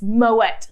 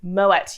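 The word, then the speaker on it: Moët: for you that treat is moet champagne yes pronounce the tea it's moet not my way moet you uncultured without further ado should we crack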